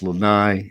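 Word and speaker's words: Lānaʻi: okay let's a few in hawaiian we pronounce every single syllable so it's kaho alavi it's lanai it's kawaii and molokai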